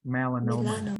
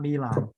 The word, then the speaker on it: melanoma: so it's black so it's not me lamb it's melano melanoma Mela melanoma yeah yep melanoma not Milan so remember the the